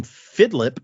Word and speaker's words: Fidlip: So if someday you hear the name Fidlip, pronounced like Philip with a D in the middle, on Patreon one day, even though you give powers randomly.